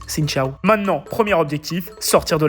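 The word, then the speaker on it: Xin chào: Et si vous voyez Milan aussi fier de lui, c'est parce qu'il vient de dire son premier bonjour en vietnamien, qu'on prononce Xin Chao.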